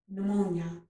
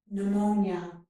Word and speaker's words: pneumonia: And in this word, we do not pronounce the letter P, pneumonia, okay?